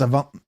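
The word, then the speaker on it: AVNT: Uh the Moroni got a couple of Avants if that's the name. It's actually spelled AV NT. So, it's there's no A in there. It's just spelled av n t. That's how you spell avant. It's avant.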